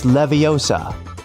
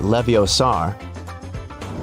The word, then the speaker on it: Leviosa: Hey Siri, it's Leviosa, not Leviosar.